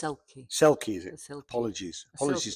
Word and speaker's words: selkie: So it says, a silkie and a stranger. It's selkie.